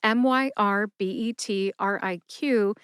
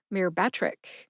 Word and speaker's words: Myrbetriq: Since Donna didn't spell that drug name, I'm going to guess that it is Myrbetriq. That's Myrbetriq, Myrbetriq.